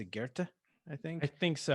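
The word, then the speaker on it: Goethe: uh on how does he pronounce it he pronounced guerta i think i think so uh g-o-e-t-h-e um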